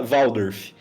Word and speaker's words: Waldorf: Eh, é uma escola Valdorf, é uma pedagogia alemã, né? Foi criada pelo Rudolf Steiner, eh, um filósofo austríaco. Eh, se escreve W A L D O R F Waldorf.